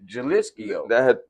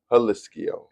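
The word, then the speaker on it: Jalisco: Jalisio. Yeah, I did say that. But we both said that. Jalisio. Yeah, but it's actually Hisio. Yeah, cuz I forgot they don't pronounce the J and um Hisio.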